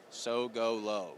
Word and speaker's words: Sogolow: So golo. It It's spelled more complicated than it actually is. Just so golo.